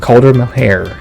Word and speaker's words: Caulder Melhaire: And I think that's gonna wrap it up for this LegendFire podcast episode on world building with Caulder Melhaire. Did I pronounce that right?